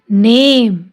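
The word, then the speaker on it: name: न ए नेम, E silent.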